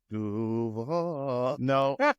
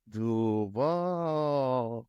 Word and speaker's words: Duval: He said, hey, Mike Greenberg said, I think the emphasis was on the wrong syllable. I said it was. It's not the A that you stretch out. It's the U.